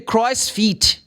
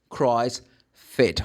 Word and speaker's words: CrossFit: Oh I am going to the Christ. No it's not Christ. Christ fit.